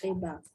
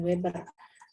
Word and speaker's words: Weber: Kalau dari si siapa nih, Weber ya, bacanya katanya Max Weber, bukan Weber.